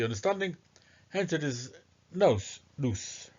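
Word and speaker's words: Nous: hence it is no Noose I think it's pronounced noose as Anna anaxagoras first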